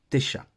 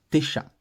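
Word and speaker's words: תשע: dans la prononciation moderne quand le Aïn n'a pas de voyelle il ne se prononce pas donc ça se dit juste tes chats qu'on écrit en phonétique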